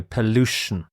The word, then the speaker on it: pollution: the word pollution pollution so note the stresses in the middle of the word here pollution pollution means harmful substances